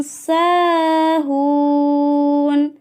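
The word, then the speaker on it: ساهون: An sholatihim, an sholatihim sahun. Nah, ini panjang semua. Sa panjang, kemudian hun panjang.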